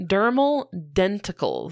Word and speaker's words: dermal denticles: What is the correct pronunciation? Dermal denticles.